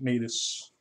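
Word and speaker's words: Natas: Yes, I pronounce it Natus. Phonetically, I believe it's correct because it's just Satan backwards.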